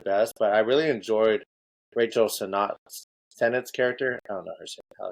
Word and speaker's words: Sennett: but I really enjoyed Rachel Sennett's character. I don't know how to say her last name. She was Senate, I think is it. I think you got it.